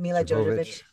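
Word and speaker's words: Milla Jovovich: Mila Jovovich.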